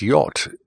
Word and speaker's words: yacht: silent letters we have words such as yacht why a CH T and it's really phonetically it's y ou T so Y at words